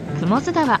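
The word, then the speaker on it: 雲津川: こう書いて雲津川と読みます。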